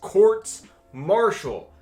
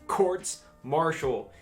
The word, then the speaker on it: courts-martial: this video quick note the plural of court martial is quartz marshall i said it wrong multiple times editing this video the